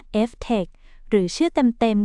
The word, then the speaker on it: FTEC: ทุน รวม ดัชนี ที่ ชื่อ ว่า FTEC อ่าน ว่า Ftech หรือ ชื่อ เต็ม ๆ